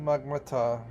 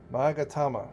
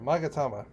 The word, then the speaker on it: Magatama: I am but a humble stonemason, but if it's the Yasakani no Magmata, oh God, I can't pronounce that, Magatama, there you go, Magatama, you seek, I may yet be of some assistance to you.